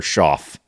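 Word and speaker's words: Shough: Good for old Tyler Schoff. That's how it's pronounced.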